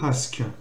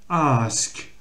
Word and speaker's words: ask: Why do you ask? Alors c'est pareil, le mot qui peut poser problème dans cette phrase-là, c'est celui-là. Normalement, on allonge le A. Why do you ask? Ask.